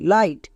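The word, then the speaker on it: light: এইচ টি ফাইট এল আই জি এইচ টি লাইট এখানে দেখো প্রত্যেকটিতে আই এর পরে জি এইচ আছে তার মানে জি H silent G এইচ এর উচ্চারণ করতে হবে না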